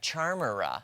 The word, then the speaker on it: Charmera: So check out this Kodak Charmera.